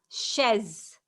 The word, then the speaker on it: chaise: So it's la chaise. Chaise. Chaise. Just same like men and it is chaise.